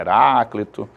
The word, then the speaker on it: Heráclito: a pronúncia do nome Alguns chamam Heraclito outros chamam Heráclito E aí sabe-se né